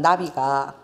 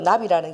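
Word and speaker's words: נביא: 이 나비가 히브리어 나비라는 게 발음이 똑같아.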